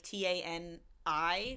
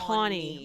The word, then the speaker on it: Tawny: And I knew somebody whose name was Tawny, but like Tani, which is a name like Tawny. But this is Tawny. Tawny, like the color.